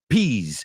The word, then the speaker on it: peas: so the first word peas say it with me peas peas it rhymes with please please pass the peas